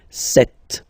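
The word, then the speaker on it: sept: Then here, remember, P is not pronounced. Okay, it doesn't exist. So you get this set sound.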